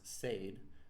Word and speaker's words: said: as closed syllables and others of which such as said which we should pronounce said do not.